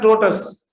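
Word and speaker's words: tortoise: वो कौन होता है, ये जो है ना TORTOIS, उसकी प्रोनाउंसिएशन है टोटस, माना जिन टीचर्स ने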